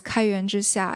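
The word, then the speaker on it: 开源之夏: The Chinese is pronounced in Chinese as Kaiyuan Zhixia, and the English name is Open Source Promotion Plan.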